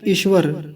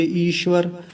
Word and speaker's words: ईश्वर: कुछ लोग बोलते हैं ईश्वर, ईश्वर ऐसे, यानी छोटा ई लगा के बोलते हैं कि ईश्वर हमारी बात सुनता है, ईश्वर ऐसा है। ईश्वर नहीं होता, ईश्वर होता है। और यहाँ चूंकि हम संस्कृत में मंत्र को समझ रहे हैं तो रेफ पूरा है, यानी र जो है वो पूरा है। तो क्या बोलेंगे?